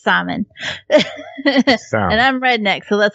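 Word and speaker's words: Szymon: pronounce the same simon i know that it's like polish and it's like simon or something it's s-z-y-m-o-n um but in english english it's simon and i'm redneck so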